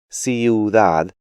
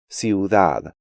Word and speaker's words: ciudad: lesson, I'll say that English speakers have the tendency to break these diphthongs up, pronouncing them like ciudad, diurno, ruido, arruinado, and Luis, when they should be pronounced more like ciudad, diurno, ruido, arruinado, and Luis.